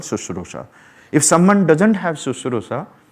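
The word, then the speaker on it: शुश्रूषा: Spell the word, pronounce it, Sushrusha. So Sushrusha is what?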